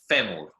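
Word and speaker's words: fémur: So your femur bone is femur. Yeah, in Spanish, el femur. Again, it's got an accent on the E there to show you where the stress goes.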